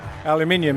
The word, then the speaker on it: aluminium: Aluminium is the correct pronunciation.